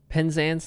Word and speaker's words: Penzance: Penzance like dance.